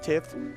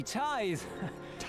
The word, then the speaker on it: tithe: Tits is not pronounced tiff.